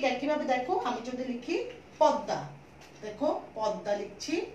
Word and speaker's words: পদ্মা: এটার উচ্চারণ হচ্ছে পদ্মা, যেহেতু পদ্মা বলে আমি ঠোঁটকে সংবৃত করে ফেলছি এই জন্য এটাতে ওকার লাগালাম এবং দটার দ্বিত উচ্চারণ করলাম পদ দিয়ে হসন্ত দিয়ে, আবার দুইবার উচ্চারণ করলাম আকার দিলাম এবং লাস্টে আনুনাসিক করে দিলাম চন্দ্রবিন্দু দিয়ে।